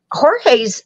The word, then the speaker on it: Jorge: Jorge's and George, we pronounce it Jorge here, but George is in the suitcase and he literally says, it's not funny anymore.